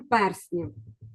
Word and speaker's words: перснів: красивий слайд з Володарем перснів вимовила я правильно і Це слово пишеться Саме так пе р сні хоча в однині перстень я Зараз перевіримо хто